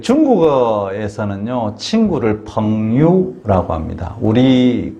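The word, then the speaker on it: 朋友: 그 중국어에서는요, 친구를 펑유라고 합니다. 우리 그 한자 수고 중에 붕우유신이라고 하는데 이 붕우가 중국어 발음으로 펑요입니다. 펑요. 이 붕이란 붕우 할 때 펑요 할 때 이 붕이라는 것은 벗 붕자고요.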